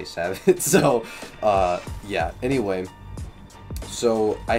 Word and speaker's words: Sabot: reasons I had 1 Sabot head instead of 2 solid was also, I think it's pronounced like Sabo or something, but I just say Sabot.